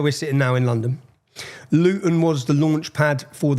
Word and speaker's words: Luton: And so, anyone, if you don't understand Luton, Luton, see I pronounced my T there. We don't pronounce our Ts. I've done that for you. How do you say it? Lugan.